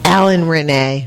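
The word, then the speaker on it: Alain Resnais: Alan Renee.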